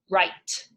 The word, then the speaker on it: write: week this one well when W an R come together you hear row row you don't really hear the W there do you and there's a silent e that means there's gonna be a long I write right now we